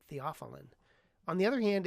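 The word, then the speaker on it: theophylline: I remember as a medical student asking my dad, "Dad, what's theopilene?" And he said, "We pronounce it theopheline."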